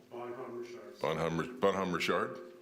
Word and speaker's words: Bonhomme Richard: How do you say that? Bonhomme Richard? Correct. Thank you.